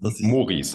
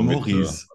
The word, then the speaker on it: Maurice: Maurice, also Maurice. Wie ein O okay.